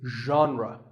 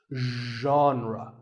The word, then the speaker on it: genre: would you say it the correct pronunciation is genre pay attention to the first sound it's like but you have to put your voice into it genre genre next up is actually